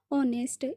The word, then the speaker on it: honest: इसमें एच जो है वो साइलेंट होता है। तो क्या प्रोनाउंस होता है? ऑनेस्ट।